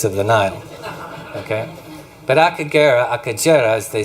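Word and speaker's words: Akagera: So this is pronounced Akajera.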